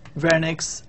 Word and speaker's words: Wernicke: So first of all, we have Broca's aphasia, and then we have Wernicke's aphasia. This is pronounced as V.